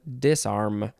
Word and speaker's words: disarm: more words disarm disarm disarm you can emphasize either syllable and say dis or dis disarm verb from The